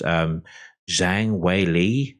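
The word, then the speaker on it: Zhang Weili: see 248 and then also in Co names pronounced Zhang Wei Li the UFC featherweight champion taking on Joanna years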